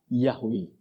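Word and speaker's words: Yahweh: Huruf Ibrani itu ee konsonan semua huruf mati semua ya. Yhwh. Tapi karena pelafalannya untuk mengucapkannya itu kemudian orang berkata Yahwe. Tapi sebenarnya tulisannya itu Yahawya karena enggak ada enggak ada vokalnya huruf hidupnya.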